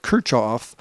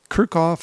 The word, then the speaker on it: Kirchhoff: internal resistance kerkoff's rules I've heard this name pronounced a bunch of different ways my teacher at school called it Kirchhoff I've heard kerckhoff I've heard kerckhoff so I looked it up